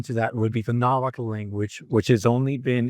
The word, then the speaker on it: Nahuatl: Um an exception to that would be the Nahuatl language which has only been in Central Mexico since the 1300s.